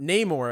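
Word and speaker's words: Namor: because it's like uh cuz I think they pronounce it Neore in the movie but Neymour as we've always called him in the comic book community like he's not uh Aztec like that's an original idea.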